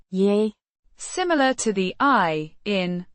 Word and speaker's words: Jeg: Ja. Means I, pronounced Yeah.